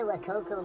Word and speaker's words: Wacaco: That's the Wakokco Mini Press. There you go. The Wakoko Mini Press.